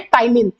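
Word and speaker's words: ptyalin: नाम होता है बच्चों इसको कहते हैं टाइलिन पी यहां पर साइलेंट होता है अपना ठीक है स्टेट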